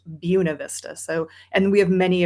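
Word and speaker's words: Buena Vista: it it you would think oh it's it's Bu Vista but it's pronounced Buuna Vista.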